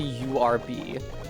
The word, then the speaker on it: herb: I say herb like an American and not herb like they do in England. I I have in the past seen an Englishman render the American pronunciation apostrophe urb frisk is of the